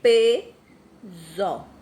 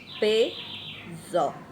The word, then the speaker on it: peso: Então, logo, esse S aqui tem um som de Z. Peso. Ó, tá vendo? Quando a gente tá pronunciando, ele tem um som de Z. Peso.